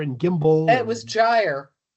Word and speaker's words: gimble: Make the G hard in gyre and gimble.